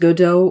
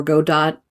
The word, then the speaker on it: Godot: It can be pronounced Godo or Go dot. Either way is fine.